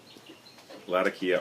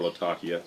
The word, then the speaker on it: Latakia: out of uh oriental latakia or latakia choose your pronunciation and uh red virginia